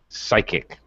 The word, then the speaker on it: psychic: thank you it's psi the p is silent it's just pronounced psy so yes psychic if it's if if